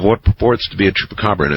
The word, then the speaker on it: Chupacabra: Last night, someone butchered the pronunciation of Chupacabra in an interesting way. I believe he called it Chupacargo.